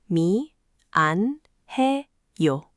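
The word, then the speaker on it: 미안해요: Let's start with mianeyo, since it's slightly easier. Mi, an, he, yo.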